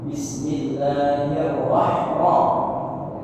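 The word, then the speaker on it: بسم الله الرحمن الرحيم: Rnya besar di sini tebal ya. Bismillahirrahman ya.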